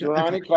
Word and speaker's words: Jirani: on the fourth Friday of the month at Jirani. Am I pronouncing that correctly? Correct, Jirani Okay, Coffeehouse.